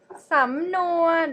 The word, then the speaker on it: สำนวน: Okay, which are สำนวน the first one สำนวนokay, the first syllable is rising tone สำนวน mid tone สำนวน in Thai means idioms.